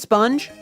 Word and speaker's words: Spung: Okay, it is S-P-U-N-G, by the way. Don't ask why it's spelled spung, but it's pronounced sponge, okay?